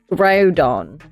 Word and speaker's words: Groudon: I would say Groudon. That looks like it's Groudon because it's the word grows there, but you've separated out the ow. I would say Groudon.